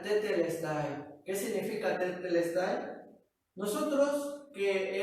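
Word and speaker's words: τετέλεσται: Por eso, esta palabra, consumado es, en griego, se pronuncia tetelestai.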